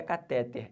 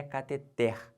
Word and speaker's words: cateter: Não é catéter, é cateter, beleza? Essa aqui é a sílaba tônica. De novo, se você fala catéter, você vai errar, que você vai botar um acento aqui quando não tem, tá bom?